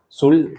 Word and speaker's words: Dzul: Zul, ¿pronuncia bien? Así es. Es un apellido maya, nos estaba platicando antes de empezar a grabar cómo se pronuncia.